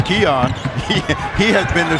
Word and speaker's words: Keon: number it's seven and we learn how to pronounce his name it's Keon he he has been